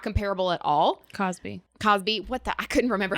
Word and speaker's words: Cosby: Kelly or Harvey Weinstein or Crosby. Like this is not that scenario. So it's not comparable at all. Cosby.